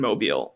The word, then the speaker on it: Mobile: I've been to Mobile. I've taught students who are directly affected by these policies. So I had the urge to be like, it's pronounced mobile.